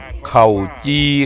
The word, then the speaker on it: เข่าจี่: ข้าว จี สรุป ครับ คำ ว่า ข้า จี นี่ ครับ ออก เสียง ว่า ข้า จี ครับ ข้า จี นี่ เป็น